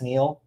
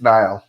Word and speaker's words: Niall: Is it just Neil? I think it's Niall. Niall?